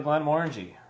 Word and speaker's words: Glenmorangie: my favorite sweeter whiskies it's easy to remember to how to pronounce the name because it says orange sort of in the name it actually says orangey didn't the guy say